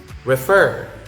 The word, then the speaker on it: refer: Next is refer, refer. The stress is in the second syllable, not in the first.